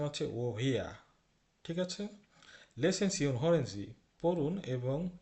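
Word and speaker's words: woher: এসেছো লক্ষ্য করুন এটার উচ্চারণ কিন্তু ওহারনা এটার উচ্চারণ হচ্ছে ওহিয়া ঠিক আছে লেসেন পড়ুন এবং শুনুন এমপটেন্ট মানে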